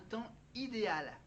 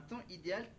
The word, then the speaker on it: temps idéal: nom au singulier, un temps idéal. Voilà. Un temps idéal. Le temps c'est T E M P S. Et oui, il y a un S à la fin de temps idéal.